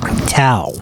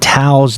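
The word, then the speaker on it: Thao: Tao from San Jose, California. First off, I noticed the fact that Tao's name is spelled T-H-A-O. And I know that name because that's a name from the Vietnamese culture.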